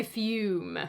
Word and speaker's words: Fume: When we're slaves to a bad habit, which is why today's video is sponsored by Fume. Fume rhymes with broom.